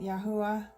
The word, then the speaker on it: Yahweh: This is written Yahweh, but I actually like to pronounce it Yahuwah, so I might sort of interchange at certain points just out of habit.